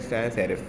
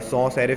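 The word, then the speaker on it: sans serif: Right side पे जो है उसे हम कहते हैं सैन सेरिफ। ठीक है। सैन सेरिफ भी कह सकते हैं और सौ सेरिफ भी कह सकते हैं। ठीक है। कुछ भी इसको प्रोनाउंस किया जा सकता है।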